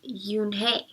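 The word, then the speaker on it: Unhei: Kim then turned to Joey she nodded slowly it's pronounced you name it means grace mr. Kim added you and hey Joey says slowly this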